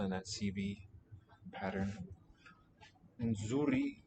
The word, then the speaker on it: nzuri: Nzuri, I think, is a pre-nasalized fricative. probably best regarded as a single sound, just a complex segment.